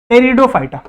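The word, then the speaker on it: Pteridophyta: उसके बाद आता है वेस्कुलर में टेरिडोफाइटा, ठीक है, टेरिडोफाइटा, ठीक है। और इसमें पी साइलेंट है।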